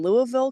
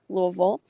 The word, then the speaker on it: Louisville: Actually, in 2018, I spent a summer living in Louisville, Kentucky, Louisville, or Louisville, depends who you're from, how you say it.